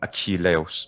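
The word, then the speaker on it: Ἀχιλλεύς: it's attic so um aqui leos so there we have a ka but it's um the letter chi so it makes a has an aspiration on it so it's not merely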